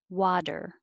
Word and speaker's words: water: Water, that T changes to a D.